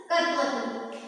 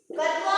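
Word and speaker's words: क्त्वा: त्वा, कत्वा में भी क हमारा क्या रहता है? साइलेंट होता है, और इसमें बच जाएगा त्वा।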